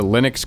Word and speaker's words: Linux: a man named Linus Torvalds had created the Linux kernel it was originally pronounced as Linux like his name hello this